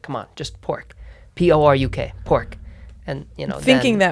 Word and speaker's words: Poruk: I sort of insisted that we spell it pork, normally not P-O-R, K or Q. I was like, come on, just pork.